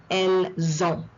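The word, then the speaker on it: elles: going to pronounce this it is not El on but e the t is silent E they have masculine feminine form elz elz all right so the S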